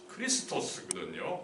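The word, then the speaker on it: Χριστός: 정확하게는 이 크리스토스거든요. 크리스토스니까 그리스도 좀 비슷한 측면이 있는 거죠. 이 크라이스트로 발음하면은 사실은 원 발음에 좀 어긋나는 게, 그러나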